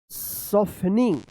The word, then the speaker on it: softening: आप ऐसे पढ़ रहे होंगे सफ्टेन, लेकिन सॉफ्टेन ये गलत उच्चारण है। क्या पढ़ेंगे? सॉफन, सॉफन। क्या पढ़ेंगे? सॉफन, सॉफन। SOFTENING। क्या पढ़ेंगे इसको? सॉफनिंग, सॉफनिंग पढ़ेंगे।